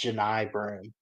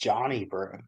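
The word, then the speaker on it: Johni Broome: you at first honestly I didn't realize his name was pronounced Janai broom that's how you say it I can't be the only one that thought this though I thought it was just Johnny bro I thought it was just spelled with an i instead of two ends and a y it's Janai brw and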